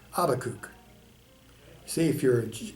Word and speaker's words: Habakkuk: to pronounce the name habakkuk see if you're if you're in jewish context that's how you would say it in most christian contexts this habakkuk it is all simply